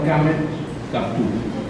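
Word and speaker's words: קמץ קטן: que me acuerdo es una vocal que es una A que se pronuncia como una E, y entonces se llama Kamet Kaptu, así como cotufa, ¿no?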